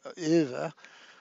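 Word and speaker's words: Euwe: u w e and I was taught to pronounce it either or something along those lines I don't know the exact pronunciation but it's the world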